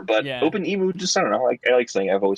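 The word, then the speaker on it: OpenEmu: at i don't know i've never never heard that pronounced emu like the bird but it makes sense it makes sense so i guess i call it all right i guess it could be open mu like open emulator but yeah open emu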